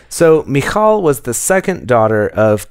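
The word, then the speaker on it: Michal: this name if it's mishall or mik or it's Michael m i c h a l uh so I apologize TR to make it more Hebrew so mikal was the second daughter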